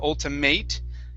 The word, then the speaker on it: ultimate: ultra ultimate okay now the other thing here with the ate at the end we're going to pronounce that like an i-t instead of ultimate it's ultimate ultimate ultimate good good all right